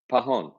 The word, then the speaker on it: Pajon: Pajon. Pajon. Okay. Yes. I told you that. How come you never can do people's last You name? did not. You said Pajon or No, something. the J is silent.